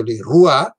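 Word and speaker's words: le roi: francese che presenta la sequenza oggi per esempio leroy il re la pronunciamo così ma questa pronuncia si è imposta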